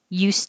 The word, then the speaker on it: used: at the end use if it's something that's not new i bought a used car it will sound like a z d ooh is still distressed vowel and if it's